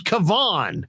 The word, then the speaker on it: Kevon: maybe sit in your room and check this pronunciation guide bro i mean come on his name is kavon and he's not a rookie my goodness and